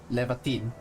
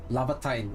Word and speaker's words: Laevatain: Her name is uh apparently not Levatine that I I kept pronouncing for like the the past week or so. It's pronounced uh Labatine or something like that. So, we'll just pronounce it Labatine. Okay. From now on. I checked the pronunciation. Apparently, that's the way.